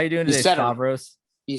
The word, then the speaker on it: Stavros: How you doing today, Stavros?